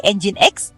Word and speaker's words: Nginx: Nyin X yang diucapkan sebagai Engine X adalah perangkat lunak server